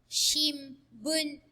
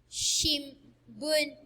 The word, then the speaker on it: shimbun: Next up is this hiragana N is pronounced M before the sounds in ba, pa, and ma rows. Okay, again, it is pronounced M before the sounds in ba, pa, and ma rows. For example, shimbun, shimbun.